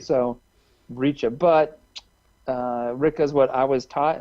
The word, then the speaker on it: Ricca: I mean, I suppose if it were kind of the two C's kind of tells me it's Italian.